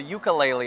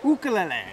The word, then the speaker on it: ukulele: on what a lot of people call the ukulele on our show but as we found out the correct pronunciation is ukulele ukul and what does that mean well ukulele